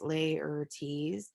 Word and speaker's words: Laertes: So how do you pronounce Laertes? Laertes.